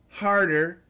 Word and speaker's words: harder: Smarter, harder, harder. Harder is not a flap T. It's a D.